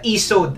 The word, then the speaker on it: Isode: So hindi siya ISOD eh, kasi nakita ko na sa internet na ESOD ang pronunciation sa product na to.